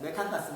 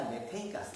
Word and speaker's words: 메테인가스: 이런 거 좀 발음을 좀 정확히 바뀌어가지고 부탄가스가 아니라 뷰테인가스, 메탄가스가 아니라 메테인가스 이런 거 바뀌었습니다.